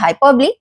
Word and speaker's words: hyperbole: So first जो figure of speech दिया है वो यहाँ दिया है hyperbole. इसका जो pronunciation है देखो, hyperbole, right?